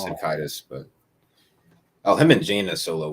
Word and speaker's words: Caedus: Is it Darth Caedus or Darth Caedus? I've heard both, so I'm not sure. But he is the shit, man. Jason Solo. Oh, it's Caedus, but him and Jaina Solo were overpowered.